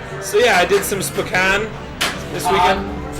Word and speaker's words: Spokane: Yeah, no, it's Spokane. Spokane. Yeah, we know, Jenny. We know it's Spokane. It's Spokane. Damn it! Now I'm doing it wrong. But I was doing it wrong because it's funnier because of the cocaine song, because it rhymed.